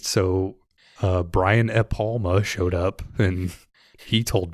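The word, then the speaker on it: Brian De Palma: So Brian E. Palma showed up and he told me that. Wait, the But D is silent?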